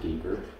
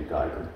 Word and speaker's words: Geiger: Some people pronounce it Geiger. I've been trying to force myself to do Geiger, but Either way works.